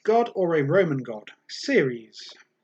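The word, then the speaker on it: Ceres: or a roman god series that's c-e-r-e-s i've actually written down how to pronounce that one s-e-e-r-e-e-z series the question 38 series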